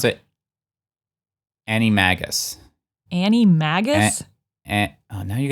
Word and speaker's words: Animagus: Animorphs close an anim they've said it an animus yeah anagist yeah it's close enough what is it I think in I think they pronounce it Annie Magus Annie mag oh now you got me totally